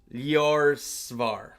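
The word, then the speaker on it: Ljósálfar: The J is pronounced like a Y. Okay. Yorvar.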